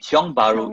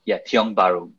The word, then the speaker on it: Tiong Bahru: So I think Tiong Bahru is a great, Tiong Bahru, but it's a local name, so it's a bit difficult to pronounce.